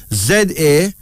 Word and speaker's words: Zarina: Then there's Zarina, Z-A-R-I-N-A, pronounced Zarina, a Swahili female name meaning golden.